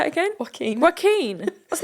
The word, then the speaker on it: Joaquin: Joaquin. That's not how it's spelled.